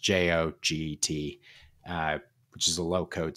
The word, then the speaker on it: Joget: Is I think it's pronounced Go Get, but it's pronounced JOGET, which is a low code solution.